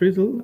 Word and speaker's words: RDDL: grounded uh a grounded ridle it's it's it's pronounced riddle a grounded riddle corresponds to a dynamic uh